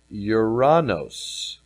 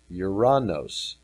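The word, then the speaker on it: οὐρανός: I can jump back and forth 3772 is uranos uranos and in the English equivalent here it's described as Heaven air Sky Heavenly so isn't that interesting a throne was set in uranos heaven air Sky um no mention of a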